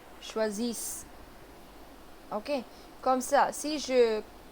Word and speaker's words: choisissent: And no, ENT we don't pronounce. Choisissent. Choisissent.